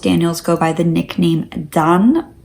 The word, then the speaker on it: Daan: And most Daniels go by the nickname DAAN, pronounced kind of similar to how I said it.